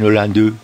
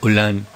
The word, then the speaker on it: Hollande: Ella no dice Hollande, sino Hollande. Hollande. La E, si no tiene tilde, no se pronuncia.